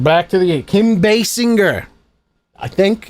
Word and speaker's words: Basinger: That's on top of learning how to make zombies today, we're learning how to pronounce celebrities' names properly. Gal Gadot, M. Night Shyamalan. I watched the Red Letter Media. Basinger.